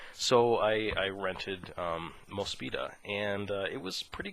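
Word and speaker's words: Mospeada: i think it's genesis climber mosfeta is how they say it it looks like most fiata um so i i rented um mospita and uh it was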